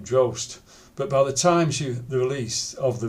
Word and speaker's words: Drost: The title was supposed to rhyme with her surname, Drost, but by the time the release, she had changed it to Summers.